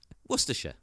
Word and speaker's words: Worcestershire: Yeah, like, I've heard 20 different pronunciations, not one of them right. Worcestershire. Worcester. Yeah, Worcester. Worcester. We got it. Worcestershire.